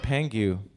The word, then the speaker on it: Pang: I think it was Pang. It's like Chang, right?